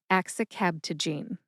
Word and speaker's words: axicabtagene: Axicabtagene. Axicabtagene. The second word in this generic drug name is ciloleucel. Ciloleucel has 4 syllables.